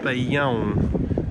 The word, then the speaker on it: Bolhão: Bolhão. So it has the sound, like cão.